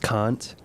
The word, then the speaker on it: Kant: kant kant he's actually it's actually pronounced kant i've read um uh